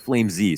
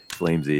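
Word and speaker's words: flameZ: lurks flames lurks out actually it's pronounced flame z sorry he wants it to be flame z flamesy yeah so okay there's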